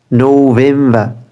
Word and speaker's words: November: যেহেতু আমরা আরটাকে সাইলেন্ট করতেছি, এই ক্ষেত্রে প্রত্যেকটা শেষে আরটা সাইলেন্ট থাকবে। September, September not, September. October, October, October, October. নভেম্বর, নভেম্বর, নভেম্বর, নভেম্বর।